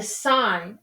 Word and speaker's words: sin: three trig functions the sign of angle a written s i n or sin is actually pronounced sign the angle that we're